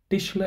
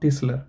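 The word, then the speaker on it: Tischler: think tishler is Carpenter okay tishler and not tisler there's a difference sure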